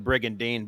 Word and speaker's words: Brigandine: it whatever brigand sounds a lot better than brig and dean brigandine sounds like a toothpaste that being said